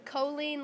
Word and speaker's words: Colleen: It's Colleen, like Jolene with a C. Oh, okay. Yeah, my grandma was very adamant about it. All right. She was Colleen, I'm Colleen.